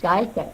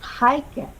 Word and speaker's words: Heike: I call you Gaike, and it's Heike.